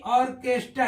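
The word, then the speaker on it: orchestra: रहा है मोनल की ऐसे ही ऑर्केस्ट्रा ऑर्केस्ट्रा देखते हैं ओ आर सी एई ए टी आर ए तो यहां भी ऑर्केस्ट्रा यानी एच यहां भी क्या है साइलेंट हो जा रहा है य स्टोम एटी एम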